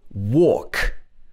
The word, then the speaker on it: walk: have a silent h l is another sound which is often silent especially before k and before f at the end of the word for example walk i'm going for a walk talk i talk to